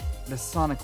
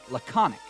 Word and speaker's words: laconic: words got it uh and it's pronounced laconic I pronounced it wrong the more you know